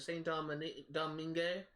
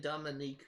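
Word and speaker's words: Saint-Domingue: off the coast of Saint Domingue, that's actually how it's pronounced. I think I was pronouncing Dominique before, but I think it's Domingue.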